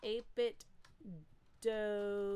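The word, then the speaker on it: 8BitDo: Pete says it's pronounced 8-bit do. Yes. Do, like no. Scooby-Doo. So listen, I used to say 8-bit do. That's the proper way to say it. They say it themselves.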